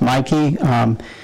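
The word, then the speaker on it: Miki: Then we have Mikey, it's pronounced Mikey, spelled M-I-K-I, Parks, for part-time cafe,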